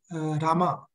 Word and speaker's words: Rama: of his disciples that when you chant you have to chant Rama because the the the the the har Krishna Maham contains 32 syllables and you're dropping four of the syllables off so uh yeah sometimes we even see shil propa chance Ram but still we follow his instructions chant Rama so I'm I'm working